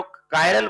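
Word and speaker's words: chiral: तो जो कायरल word है यह जो आपका है ग्रीक लैंग्वेज का वर्ड है वहां पर होता है कायर हिंदी वाला कायर नहीं कमजोर नहीं कायर प्रोनाउंस किया जाता है मतलब हाथ जो मॉलिक्यूल्स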